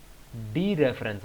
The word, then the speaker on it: dereference: इसका नाम भी रेफरेंस ऑपरेटर है, बट नॉट रेफरेंस ऑपरेटर बल्कि डी रेफरेंस operator. डी रेफरेंस, पूरा वर्ड ये डी रेफरेंस है। Focus on द डी।